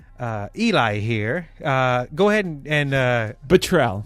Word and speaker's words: Botrell: Go ahead and Botrell. Botrell. Okay, I wrote it down here phonetically.